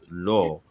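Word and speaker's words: לֹא: So it's pronounced lo because what's ascribed to the aleph is the cholam, right?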